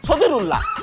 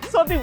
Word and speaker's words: ছদিরুল্লাহ: কাম কি তাও কচ্ছি নাম হচ্ছে ছদিরুল্লাহ অনেকে উচ্চারণ করতে পারে না বলে সদর কয়ে দেয় এই সাদরুল্লাহ রিক্সা জোরে